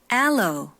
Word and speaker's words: aloe: aloe, cocoa, caffeine, 네, 요거는 미리 설명 안 해주면 좀 안 들릴 것 같아가지고요.